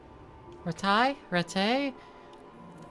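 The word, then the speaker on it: Rattay: Which one is the correct pronunciation as well? They're never They never keep that up. Sometimes they say retail, sometimes they say ret. Looking at it, I would say ret. But I've heard the more noble people say retai more, so I'm more inclined to go with that pronunciation as well.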